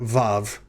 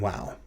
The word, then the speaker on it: vav: but just know that when you hear me pronounce it i'll be pronouncing it like a v and i'll be calling the letter vav rather than wow next consonant in hebrew